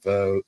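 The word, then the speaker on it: Vogt: then I started doing uh I met Jeremy vote started playing pedal steel is that v-o-i-g-h-t no it's spelled uh it's a v-o-g-t but you say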